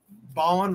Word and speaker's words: Bolland: It's not Bolland. Right. Bolland. It's Bolland. It's Bolland. Rhymes with Holland, sir. Bolland rhymes with Holland.